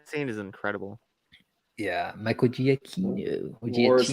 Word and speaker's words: Giacchino: yeah, Michael Giacchino. Or War is like Giacchino. the What do you best.